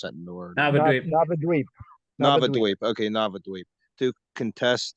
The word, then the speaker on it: Navadvip: Sorry, I can't pronounce that word. Navadvip.